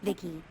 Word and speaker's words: VICI: maybe a repair person yep i'm vici pronounced vicky came out here to